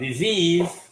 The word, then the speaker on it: disease: Nghĩa mình viết S-E nhưng mà mình đọc D.